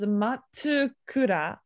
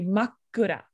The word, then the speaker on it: makkura: what it says so you pronounce this as a matukura but it's actually makkura that's a small two right there it's hard